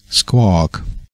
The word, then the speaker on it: squawk: Auch hier haben wir wieder das nette W mit drin und wieder dieses umgedrehte C. Dieses Mal lang gesprochen und es ist also kein O und es ist auch kein A, es ist eigentlich so ein Mittelding zwischen O und A.